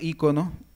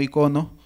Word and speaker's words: ícono: Igualmente solemos pronunciar ícono, no icono, como era originalmente.